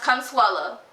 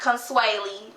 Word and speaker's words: Consuela: background about me um my name is pronounced consuela not consuely or consue whatever people be saying um the reason why